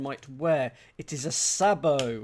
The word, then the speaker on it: sabot: Uh let's see if chambers will enlighten me on the pronunciation. Uh a shoe car from a single block of wood. And the pronunciation is sabo. Sabo. Okay.